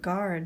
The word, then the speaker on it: guard: terms together and even the word guard may be confusing to them with the silent G so that would be